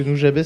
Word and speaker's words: Nujabes: Jun Seba. Putain, je le prononce toujours mal. Jun Seba, ouais. Ouais, c'est ça. Jun Seba. Je le prononce toujours mal parce que Nujabes c'est Jun Seba.